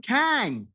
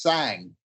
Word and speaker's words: Cang: Kang how are you I'm all right but is pronounced sang it's it's really strange